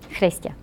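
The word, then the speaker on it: Chrystia: Because he pronounces it in a way that only people who have grown up with Ukrainian around them do. Which is how? Chrestya. Harder in the back of the throat.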